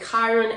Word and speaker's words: Chiron: opposition this is something um how do you spell it Kiron it's c h i r o n by